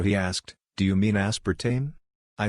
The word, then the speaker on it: aspartame: telling me that the sweetener aspartame is pronounced aspartame a instead of the correct pronunciation of aspartame i was driving around